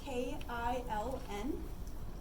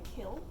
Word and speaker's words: kiln: That's spelled K-I-L-N. Some people pronounce it a kill. Like one of my professors in college pronounced it kill. It has an N on the end, so I pronounce kiln.